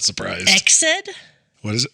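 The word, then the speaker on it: Ecsed: um I'm not surprised exid what is it how do you spell it EC D EC D exid exid I like either one exid Castle okay and she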